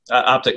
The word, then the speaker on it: OPTK: too sure we're uh optic networks is how you pronounce that we uh we went with the the different spelling to to set us apart but optic is a little easier to pronounce we're a fiber-based communications